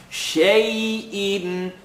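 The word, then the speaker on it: شيء: The sheen has a line on the top. Ya has sukoon. So you know from the last rule of accents. Madalayin, madalin. We called it the Canadian rule, where you opened your mouth, kind of made an A sound.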